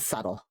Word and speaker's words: subtle: Okay, well, how about subtle? Like that one for sure.